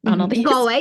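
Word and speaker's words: Galway: a train over to gway you have to correct me goway yeah good good yep you're fine oh my goodness Irish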